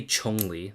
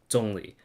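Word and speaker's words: Zhongli: is that's literally it you don't say chongli no that's not how you say it although yeah yeah or dongli like it's much more accurate than John Lee okay Jesus yeylon is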